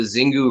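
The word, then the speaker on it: Xingu: which what happened is on the zingu river or shingu however you want to pronounce it it's with an x-i so shingu is probably how we should say it but on the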